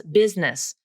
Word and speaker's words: business: falls into this group every native speaker i've ever met pronounces business as business not busyness in fact busyness is